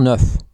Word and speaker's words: neuf: Un avion neuf, a new plane. Une voiture neuve, a new car. Neuf is spelled and pronounced like number 9 in French. Neuf.